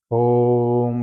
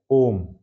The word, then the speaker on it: ओम: तो मैं बता दूं कि पहले आता है ओम। ओम कहते हैं ना, तो अगर अकेले बोलना है, जैसे सिर्फ ओम ओम ओम ओम, तो ओ और म का उच्चारण होगा, अगर अकेले बोलते हैं तब।